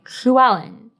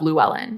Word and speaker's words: Llewellyn: lateral fricatives, like the Welsh pronunciation of the name Llewellyn, and lateral approximants, like the English pronunciation of Llewellyn.